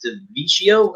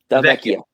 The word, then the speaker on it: Delvecchio: It says the production line alongside Sid Abel, and then later Alex DeVecchio. Am I pronouncing that? Delvecchio.